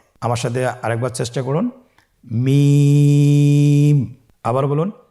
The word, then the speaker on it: মিম: মিম হরফটি উচ্চারণের ক্ষেত্রে অবশ্যই বারিক হবে, পাতলা হবে এবং 3 আলিফ টেনে উচ্চারণ করতে হবে। আমার সাথে আরেকবার চেষ্টা করুন। মিম। আবার বলুন মিম।